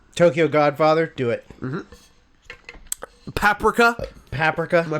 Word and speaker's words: Paprika: Paprika. Am I pronouncing that correctly?